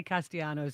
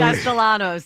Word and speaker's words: Castellanos: How does somebody say Castanos? Castellanos. Castellanos. There you go.